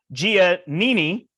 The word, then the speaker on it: Giannini: the Brant and I am here with Gia Nini hey everybody does that get it right yeah there you go pronounced 50 with their hands ironically I'm near